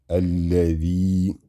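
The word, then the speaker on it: الذي: In this case, we have lam shadda. Alla, alla, dhal kasra, ya stretching it. The, alladhi, nun fathana, alladhina.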